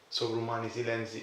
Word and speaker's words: Sovrumani silenzi: Sovrumani silenzi.